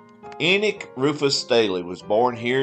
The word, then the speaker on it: Enoch: locals who did inform me that the correct pronunciation was Enix daily and not Enoch Staley enik Rufus Staley was born here in Wilkes County on April 8 1918.